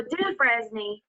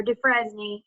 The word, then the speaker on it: Dufresne: So Dufresne, or Dufresne, either way, is how it's pronounced.